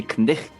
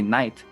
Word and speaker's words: knight: We don't say knicht anymore. We say night. Knight in shining armor. But we still spell it like that because of its history.